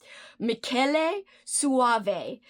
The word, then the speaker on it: Michele Soavi: I have loved everything I've ever watched from this director, and I googled how to pronounce his name, so hopefully this is right. Michele Soavi.